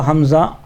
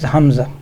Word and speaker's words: hamza: called a leaf but in pronunciation is Hamza or what what we know called Hamza which is a glottal stop like ba but soon it is like the sound it is found in cockney English in London bu TT